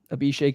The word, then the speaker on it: Abhishek: do you so your name is Abhishek Abhishek yep oh okay I totally I totally butchered that well I think I'm just gonna